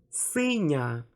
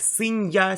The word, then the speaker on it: синя: Синє, синю, синя. Okay? I don't pronounce it like синья, синье, синью.